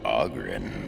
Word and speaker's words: Ogren: The name's Ogren, by the way. But the ladies pronounce it Ogren.